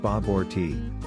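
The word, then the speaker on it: bobotie: be seen almost everywhere in the caribbean five bobity babadi pronounced bob orti is south africa's national cuisine consisting of curried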